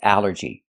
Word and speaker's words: allergy: The first thing that's important is the al. This word breaks the rule. The rule is a ll makes the sound all like ball and call. But here it makes the a sound. The short a like in apple and black.